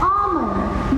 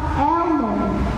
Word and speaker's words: almond: The nut that we eat or grind into bubble tea is pronounced as almond, not almond.